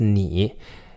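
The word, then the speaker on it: 你: words in this dialogue the first one is nee it's spelled in AI with a little tick on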